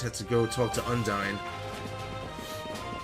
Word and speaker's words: Undine: I just had to go talk to Undine, or Undine, which I think is the correct pronunciation.